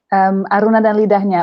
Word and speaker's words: Aruna dan Lidahnya: Aruna dan Lidahnya, or I think the international title is Aruna and Her Palette.